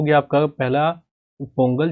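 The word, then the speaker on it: Pongala: देखिए इसी के जैसे होता है अटुकल पोंगल। आपने पोंगल सुना होगा बट इसका एग्जैक्टली प्रोनाउंसिएशन होता है पोंगला। ठीक है? पोंगला कहा जाता है इसको।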